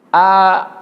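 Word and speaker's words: أعوذ: Yang pertama A, bukan A tapi A. Kebiasaan orang membaca pakai AU, itu salah ya. Perhatikan. Pelan-pelan. A'udzu billahi minasyaitonir rajim.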